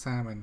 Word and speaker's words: salmon: Oh, and TJ, it's pronounced salmon, not salmon. Thank you, TJ. Salmon. Salmon. Yeah, salmon. Yep. No With L. the L, Salmon. right? No L. Salmon.